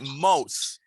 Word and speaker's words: mouth: You need to learn to pronounce the voiceless TH at the end of the word. It's like mouth. Mouth. Mouth. It's not moat, it's mouth.